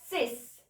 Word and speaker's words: six: Now 6 is six and we say it as sis. Sis. 6 नहीं बोलेंगे, sis.